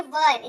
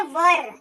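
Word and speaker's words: were: यानी कि डब्ल्यू ई R spelling तो है पर उच्चारण जो है उसका होगा वर।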